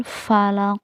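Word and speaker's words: فلق: huruf lah lam yang berharkat fathah maka kita membacanya seolah-olah falaco tetapi dimatikan Va Langko falaco tetapi tidak dijelaskan falaco tetapi falaco birabbil Falaq kok birabbil Falaq o kesalahan dalam membaca Qalqalah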